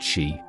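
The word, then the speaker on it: Sídhe: The Side, pronounced she, are a prominent and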